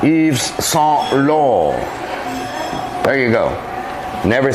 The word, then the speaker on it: Yves Saint Laurent: T's here at the end of Saint and Laurent are silent. Yves Saint Laurent.